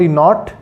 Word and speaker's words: knot: I am keeping the K as silent.